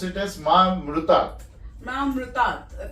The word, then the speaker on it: Mahamrityunjay: But many people pronounce it as Mahamrutat. Mahamrityunjay.